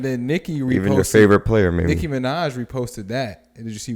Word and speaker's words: Nicki Minaj: this alley you but you said the name wrong it's nicki minaj so she said she